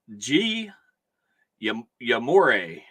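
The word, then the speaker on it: Guillorme: The count's 1-2 on Gullamore. And Card Hobbyist says it's a tough name, but pronouncing is G. Yamore.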